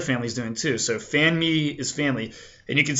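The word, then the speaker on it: fanmi: family in Asian Creole that's going to be pronounced fan me f a n m i fanme and you might hear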